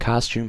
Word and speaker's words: costume: And costume has a silent E at the end.